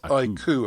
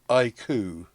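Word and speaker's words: iQOO: and I I I that's pronounced IU apparently like the dove making a noise IU okay right we don't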